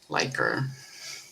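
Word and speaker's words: Likert: you know, liquor, like lyer type indicators. Yeah. Yeah. He must have Oh, but that's that's everyone. Everyone either says liquor like in alcohol liquor or liquor or liker.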